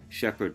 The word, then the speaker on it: Shepherd: Shepherd, pronounced like shepherd who tends or shears sheep, but spelt different.